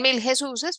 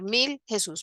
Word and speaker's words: Mil Jesús: Hay algunos que dicen Mil Jesuses, pero realmente lo correcto sería decir Mil Jesús.